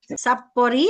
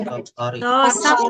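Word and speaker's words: さっぱり: Sapori atau apa? Ulangi coba dilihat. Sapari sapari. Sapari ya. Sap ri sore sapari bukan sapori.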